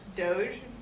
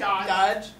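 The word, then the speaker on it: Dogge: last name is d-o-g-g-e i don't really know how that's pronounced doge dodge okay i think it's dodge he put this video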